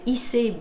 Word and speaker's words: Ise: Voilà, mon nom d'artiste c'est Issei B. Rose. Issei comme la ville au Japon, ça s'écrit I-S-E.